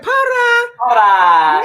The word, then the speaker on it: Parra: Parra.